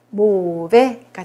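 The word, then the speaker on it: mauvais: 그다음에 요거는 아이가 에로 발음이 나죠. 끝에 s 발음 안 나서 모베가 되겠습니다. 모베.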